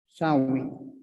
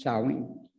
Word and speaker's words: Samhain: Halloween, as we know it today, started as a Gaelic pagan tradition and was called Sow-win, actually spelled Samhain, but it's pronounced Sow-win.